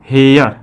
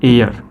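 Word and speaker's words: heir: अब जो देखिए क्या है, हावर हेयर, इसको हम क्या पढ़ेंगे, हावर हेयर। लेकिन जब इसका करेक्ट प्रोनाउंसिएशन आप करने जाओगे तो हो जाएगा आवर और ये हो जाएगा एयर, ठीक है।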